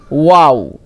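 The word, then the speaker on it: و: মাখরাজ দেখেন কি বলছে, দুই ঠোঁট না মিলিয়ে মাঝখান হতে উচ্চারিত হয়। ওয়াও, ওয়াও, ওয়াও। মানে এই যে ওয়াও উচ্চারণ করার সময় আপনার ঠোঁট দুটো মিলবে না, এটা প্রাকৃতিকভাবেই হয়। ঠোঁট মিলিয়ে তো আপনি ওয়াও বলতে পারবেন না, ঠিক আছে? তাহলে মাঝখানটা একটু স্বাভাবিক গোল হবে এটা।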